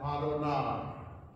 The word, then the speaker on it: Adonai: In Hebrew, it's read Adonai.